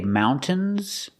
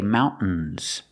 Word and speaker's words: mountains: Some people say mountains and some people say mountains. Both are correct. So you can pronounce a t and say mountains. Mountains. Or you can use a stop t and say mountains.